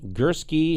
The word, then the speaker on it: Gursky: It's Gursky, G-U, not G-E, S-R-S-K-I, not Y.